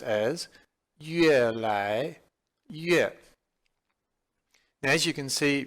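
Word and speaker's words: 越来越: And it is pronounced as 越来越.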